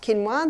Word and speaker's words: quinoa: become familiar with it's spelled quoa but it's pronounced quinoa the Aztecs love their quinoa Aussies are starting